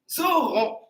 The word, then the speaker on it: aurons: The A-U give the sound O. So it will be nous aurons.